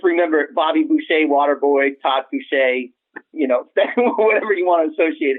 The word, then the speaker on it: Foucher: So it looks like Boucher, but it's pronounced Foucher, and the R is silent because it's French.